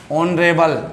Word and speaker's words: honourable: कुछ संज्ञाएं ऐसी होती है दोस्तों जो एच से चालू होती है। अब एच किस में आता है? व्यंजन में, पर वो उच्चारण ओ के समान रखती है।